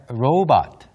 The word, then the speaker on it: robot: Row 마치 이제 그 노젓는 것처럼 rowing 하는 것처럼 row 발음하신 다음에 but. Mm-hmm.